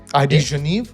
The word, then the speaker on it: ID Genève: definitely it's it's the ID genive am I saying it right ID genive yeah you can say that sometimes I just butcher